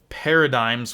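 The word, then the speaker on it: PRDGMS: mentions on this list paradigms with their first ep called shift at least i'm pretty sure that's how you say the name p r d gms pretty sure it's pronounced paradigm it's kind of a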